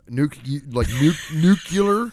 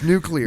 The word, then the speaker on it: nuclear: pronounced in that era nuclear nucular nuclear its nuclear all nuclear energy what do you think the circular or nuclear its nuclear nuclear not nucular right I've heard nuke nuke